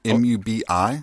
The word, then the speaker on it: Mubi: it's also streaming on i believe it's pronounced mubai or is it mubi m-u-b-i i believe mubi and they're a newer